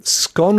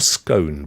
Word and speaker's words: scone: of apples while um scone or scone pronounced like Stone it's Stone if you live in the Southeast and you've never made one scone if you live in Devon and Cornwall and it is partly your tradition uh it's gone mate